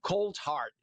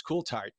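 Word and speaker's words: Coulthart: I had to practice because I wanted to say cold heart uh in American pronunciation, but it's Ktart uh from Australia, but you are the special correspondent for NewsNation on this issue.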